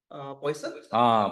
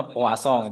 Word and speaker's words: Poisson: Poison? Poison. Ya, bukan beracuni ya. Tuh, sebenarnya dibacanya poisson gitu ya. Poisson, Orang Perancis Prancis, sebenarnya.